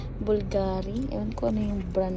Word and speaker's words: Bvlgari: siya bulgari daw sa brand mahal ba ng bulgari sila mahal daw so siya bulgary.